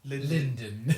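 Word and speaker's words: Lunden: is in it but it's l-u-n-d-e-n so they pronounce it Linden well so the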